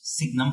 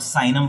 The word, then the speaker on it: Signum: is called Signum function we don't call it seinem function because sine is under trigonometric ratio which you know name has already been taken so we pronounce it as signal function so what is the